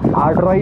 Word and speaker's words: Aadrai: कोई कोई अड्राई बोलता है, कोई अड्राई बोलता है, कोई कोई अड्राई बोलता है। तो इसका प्रॉपर प्रोनाउंसिएशन है अड्राई जंगल ट्रैक।